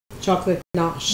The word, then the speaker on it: ganache: And then we're going to get ready to make our strawberry panna cotta with a chocolate ganache.